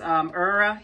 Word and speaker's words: Eerya: And the company is pronounced Eerya hair, and I will leave everything down below for you.